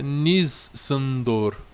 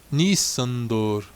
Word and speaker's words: Nissandor: O I, nesse caso, é pronunciado como I em iglu, e o san deve ser pronunciado na forma que rima com ido. Então fica Nissandor. Nissandor.